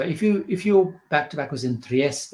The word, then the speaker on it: Trieste: If your back-to-back was in Trieste, which I believe is the right way to pronounce it, I get told off